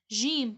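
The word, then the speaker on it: جيم: letter which is jim jim pronounced as ja jim pronounced as ja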